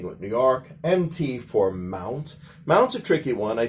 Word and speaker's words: Mt.: written next to the mountain's name, they often pronounce it as mountain. That's wrong. MT is like a title of the name of a mountain. So never pronounce that as mountain.